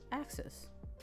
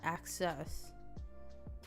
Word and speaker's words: axis: Axis. Right? Not, because it's not access or us-as, it's axis.